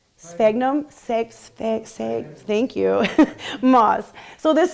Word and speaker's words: Sphagnum: Let's see if anyone can help me pronounce this right. Sphagnum, thank you, moss.